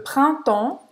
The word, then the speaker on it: printemps: Então, printemps. Printemps. mais aberto, temps, mais fechado. Printemps. Não vai pronunciar o P e o S no final.